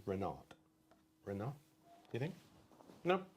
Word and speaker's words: Renard: But I would say that's French. So the T is silent. Renard. Rather than Renard.